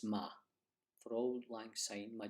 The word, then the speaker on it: ma: For Auld Lang Syne, you don't pronounce my, it's ma.